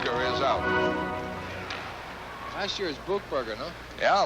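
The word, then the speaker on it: Buchberger: stick up there South buckberg is out last year is book bger no yeah a lot of controversy on how to pronounce it but the NHL guide says buckberg let's go with that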